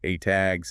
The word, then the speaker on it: ATAGS: You mentioned the ATAGs and the NAMI systems. Right, so the ATAGs parade, which is pronounced ATAG.